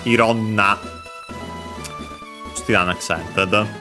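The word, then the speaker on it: いろんな: then to a noun And then it gets contracted instead of iroiro na ironna Still an adjective Yatsu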